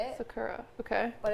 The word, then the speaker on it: Sakura: It's Sakura. Like that's what I've always gone by and that's very like North American way to say it. Sakura.